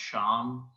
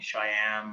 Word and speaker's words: Shyam: also just a reminder, it's okay that other people, my name is pronounced Sham. The Y is tricky. I think sometimes people want to call me Shyam, or in India they say Shyam, but Sham is acceptable.